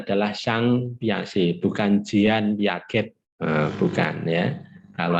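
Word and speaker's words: Piaget: itu otak kanan ya nah orang Perancis ya membacanya adalah sang piase bukanjian yaget bukan ya kalau anda kanjian bukan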